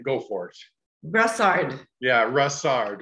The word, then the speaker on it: Brossard: Now, I want you to pronounce your last name. Go for it. Brossard.